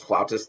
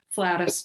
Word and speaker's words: flautist: Um, Is flautist the right way to say it? it's considered archaic, so it's not incorrect, but that's the second pronunciation in the dictionary. So Okay. flutist, flute player, flautist is formal.